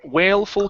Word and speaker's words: wailful: Okay, and this one here, make sure to pronounce that L sound, so it's wailful cry.